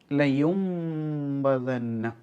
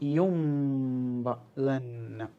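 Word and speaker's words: لَيُنۢبَذَنَّ: ലയുംബദന്ന. നൂനിനെ മീമാക്കിയിട്ട് ഉച്ചരിക്കണം. അവിടെ ഒരു നിയമമുണ്ട്. സുക്കൂൻ ഉള്ള നൂന് അതിനുശേഷം ബാ വരുമ്പോൾ ആ നൂനിനെ മീമാക്കി മാറ്റി മറിച്ച് മണിച്ച് ഓതണം. അപ്പോൾ യുംബദന്ന അങ്ങനെയാണ് അവിടെ പാരായണം.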